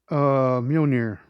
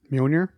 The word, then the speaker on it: Mjolnir: Mjolnir. Mjolnir. I'm gonna forget that in like 2 minutes anyway. That's why I need you. Every time I point, I just need you to say. Mjolnir.